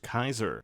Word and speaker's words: Caesar: We'll see someone wearing a golden laurel, which might be their leader, a man aptly named Caesar. Well, in the game, it's actually pronounced Kaiser.